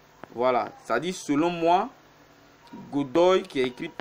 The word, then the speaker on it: Godoy: Je vais dans Goody qui est 13e. Je vois que Goody a aussi un problème de défense. Dans tous ses matchs, Goody a... Godoy, excusez-moi, je prononce mal son nom, Godoy Cruz.